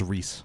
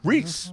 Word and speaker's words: Rhys: Wakefield but he's the lead Oh bill it's pronounced Rhys Rhys yeah Witherspoon Rhys Wakefield and he plays the